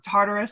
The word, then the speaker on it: Tartarus: little country estate out in, and I probably pronounce it different, Tartarus.